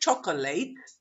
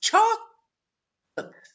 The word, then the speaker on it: chocolate: the same thing here it's not chocolate it's chocolate the syllables chocolate biscuits chocolate bacon